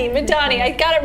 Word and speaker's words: Madani: Madani.